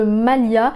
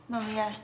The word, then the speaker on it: Malia: Les acteurs ont eu énormément du mal à prononcer le prénom de Malia parce que même si pour nous en français